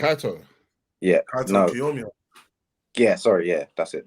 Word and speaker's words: Kaito Kiyomiya: Kaito Kiyomiya.